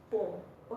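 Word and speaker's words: poem: Okay, it's पोम। Teacher भी बोलती है कि ये पोयम है बट टीचर को तो पता ही इतना, बच्चे ज़्यादातर बोलते हैं विच इज़ पोम। ओके, ई इसमें आई थिंक साइलेंट है, पोम।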